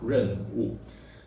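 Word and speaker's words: 壬午: This is how we pronounce Ren Wu.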